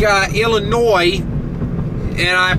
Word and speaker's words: Illinois: it's still here it's kind of like uh Illinois and I pronounce that correctly for you listeners uh and